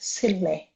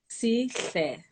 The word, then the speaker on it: Sihle: I pronounced Sihle. it. Please say it. We're going to get this right. Sile. So Sihle. I love. Please say it one more time. Sihle.